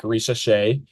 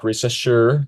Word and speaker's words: Risacher: It's been pretty much confirmed that they're trying to take Zach Risacher or Zach Risacher if you're super American and can't pronounce the French.